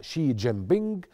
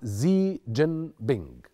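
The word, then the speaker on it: Xi Jinping: الرئيس الصيني البعض ينطقها شي جين بينج والبعض الاخر ينطقها زي جين بينج، طبقا للإيكونومست بيقولوا زي.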